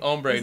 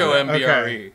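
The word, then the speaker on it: ombré: him it's well that's it's spelled with an a right yeah that's ombre ombre not not ombre not h o m b r e not L ombre like why is everybody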